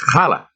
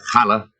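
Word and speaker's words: challah: but mrs lebowitz says no it's khala and teaches us how to say it she shakes her head are you irish you'll live forever but you'll never say hala like a chew mini macadore brings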